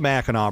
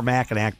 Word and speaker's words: Mackinac: peninsula located below the Mackinac Bridge or Mackinac Bridge, depending upon where you live and how you say it, with my good friend.